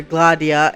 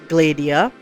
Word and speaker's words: Gladiia: her name, which is why I call her glah-dia and not glay-dia. Yeah, it doesn’t matter I’ll still mispronounce names but I’m trying.